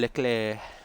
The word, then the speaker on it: Leclerc: You know, instead of saying Charles Leclerc, it's Charles Leclerc.